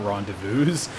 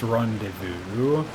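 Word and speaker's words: rendezvous: wrong the first time it's not randus it's Rondevu okay English is my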